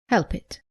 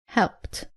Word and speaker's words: helped: as you can imagine the most common mistake is pronouncing the IDI as it after all verbs look at some examples common mistake saying help it tis helped saying walk it it is walked not cough it but coughed not order it but